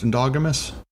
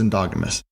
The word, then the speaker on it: endogamous: marriages into the tribe i'm just gonna confirm it is pronounced endogamous stupid i looked it up it says endogamous read something else terrible